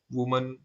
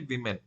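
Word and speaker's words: women: लिए आप हमेशा मैन वुमन वमन य यूज करते हैं बहुत लोग इसे इसे वुमेन बोलेंगे पर इसे प्रोनाउंस हम करेंगे मेमन और इसका सिंगुलर फॉर्म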